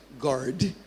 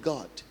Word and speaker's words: God: There's no arrow in God. Guard. Oh God. If you can't see a word on your mind, you're very likely to pronounce it wrong in your tongue. And it's training. It's just to train your mind where you see go and then you're saying God, not guard.